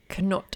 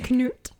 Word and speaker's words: Canute: It's King Canute, I think. Canute. I think it depends on where you're from and how you pronounce it. I think you do pronounce the K.